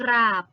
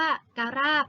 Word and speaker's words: กราบ: ไม่ มี นะ คะ เวลา อ่าน อ่าน ออก เสียง พร้อม กัน อ่าน ว่า กราบ ไม่ ได้ อ่าน ว่า การาบ นะ คะ เรา มา ดู ตัว